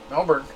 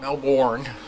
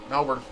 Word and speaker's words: Melbourne: That's how you pronounce it. Melbourne. Not Melbourne. Melbourne.